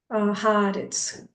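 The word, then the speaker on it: הארץ: Esse H se pronuncia como o H em inglês, tá? Haaretz, o H que nem house.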